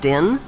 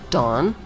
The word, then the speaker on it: Dan: Since vowels were interchangeable in the original Hebrew language, Dan could be pronounced Din, Don, or Den.